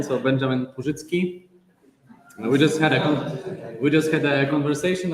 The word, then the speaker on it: Purzycki: So we are now moving to our second keynote talk by, and I will pronounce using the Polish version. So Benjamin Purzycki.